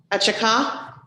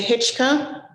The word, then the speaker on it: Hychak: Am I pronouncing that right? Achaka? Hicka. Oh. Hitchka. Okay, I will say Hitchka.